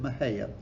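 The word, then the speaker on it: Mexica: I know it's spelled Mexico, but you would have pronounced it Maya. That's actually where we get our name Mexico from.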